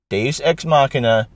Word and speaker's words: Deus ex machina: Because, let me tell you, you're saying it wrong, first of all. You mean to say Deus Ex Benjen, Deus Ex Dragon. Because Deus Ex Machina is a term for,